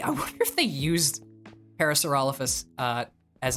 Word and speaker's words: Parasaurolophus: and the Parasaurolophus uh I said that wrong parallelophosaurus I know Parasaurolophus unless I'm pronounced Parasaurolophus Parasaurolophus that's the pronunciation thank you brain took